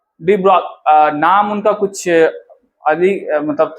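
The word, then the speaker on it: de Broglie: अलग है, लेकिन हाँ, लोइस फ्रांस के थे, तो फ्रांस वाले थोड़े अलग प्रोनाउंसिएशन करते हैं। हम लोग तो इंडिया वाले हैं तो हम लोग डी ब्रॉगली बोलते हैं, ना पता कहाँ क्या बोला जाए, गांव चलो ब्रोगलिया ब्रोगलिया भी बोल देते होगे।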